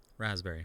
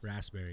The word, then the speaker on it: raspberry: raspberry sour like raspberries raspberry raspberry raspberry the p is silent just like in p diddy it's just diddy anyway